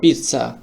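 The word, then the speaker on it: pizza: তারপরের শব্দটি আমরা দেখিয়েছি পিজ্জা বা পিজ্জা। কিন্তু এখানে তো টি নাই। এখানে দুইটা জেড আছে। কিন্তু একটার জেডের উচ্চারণটা টির মত হবে। পিজ্জা।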